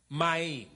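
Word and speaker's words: מים: It is pronounced Maim, which is M-A apostrophe I-M.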